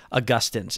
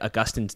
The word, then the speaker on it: Augustine: things on the feed you will hear me call him st augustine and i have never gotten more listener feedback about anything than people contacting me to tell me that i said it wrong so much so that i had already recorded episode one and i went and re-recorded every bit where i said augustine's name to then say augustine i have now gotten